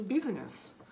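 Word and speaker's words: business: Let's get down to বিজনেস, let's get down to বিজনেস। সো উচ্চারণটা আমার সাথে আবার একটু বলার চেষ্টা করেন, let's get down to বিজনেস, বিজনেস, আমরা সাধারণত বিজনেস বলি, উচ্চারণটা হবে বিজনেস।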